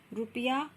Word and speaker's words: रुपया: आप देखते होंगे रुपया और रूप दोनों में जो है उच्चारण अलग हो जाता है। रुपया बहुत जल्दी हम बोल के रुक जाते हैं और जब हम रूप बोलते हैं तो यहाँ क्या है, स्वर आप थोड़ा सा इसको बढ़ाते हैं, यानी कि आप स्वर को खींच सकते हैं।